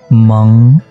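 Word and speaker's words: 盟: Atasnya kita tambah ming, maka aksara ini menjadi meng. Meng artinya persekutuan, sekutu, liga ya. Atasnya ming, bawahnya min zidi, jadinya bacanya meng.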